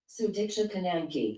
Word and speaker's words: Sudiksha Konanki: Sudiksha Konanki.